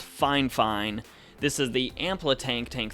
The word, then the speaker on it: Fifine: Though, now that I think about it, I believe Fifine is officially pronounced Fine.